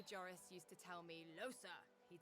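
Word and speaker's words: Lohse: I get the feeling because I could never figure out how to pronounce her name, and I'm fairly certain there are some characters who call her Losi, there are other characters who call her Losa, and I don't know which is supposed to be correct, but she just said her name was Losa, so I guess that's how I'm supposed to pronounce it, if she knows how to pronounce her own name.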